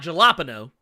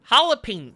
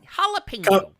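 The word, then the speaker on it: jalapeño: yeah like jalapeno okay like yeah it's not jaloppano it's halloween jalapeno jalapeno kinda like bologna is really balogna yes exactly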